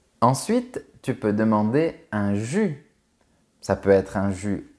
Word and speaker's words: jus: le jus de fruits fait bien attention à ne pas prononcer la lettre S on dit un jus tu peux aussi